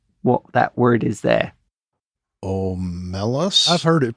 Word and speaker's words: Omelas: Omelas? I've heard it pronounced Omelas.